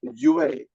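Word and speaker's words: 樂: The same character that Aman put in the chat for lure, happiness, which is the right one, can also be pronounced yue. And when it's pronounced yue, it's music.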